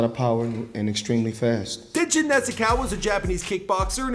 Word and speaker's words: Tenshin Nasukawa: Tenshin Nasukawa.